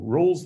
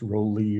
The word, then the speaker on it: Rolle: all right great so roll's theorem and it is not pronounced rowley or raleigh or anything like that it's rolls theorem um is a theorem